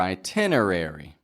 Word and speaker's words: itinerary: one the syllable stress the syllable stress is in the Tin part that's the strong part of the word you don't need to